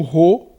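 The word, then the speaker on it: rô: isso seria ro e é igual ao ref igual r como se você fosse dizer atuo como se você fosse dizer réu o rei então o ro funciona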